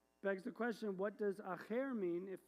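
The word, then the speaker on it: אחר: So if it was a resh, it would be pronounced, instead of echad, it would be pronounced acher.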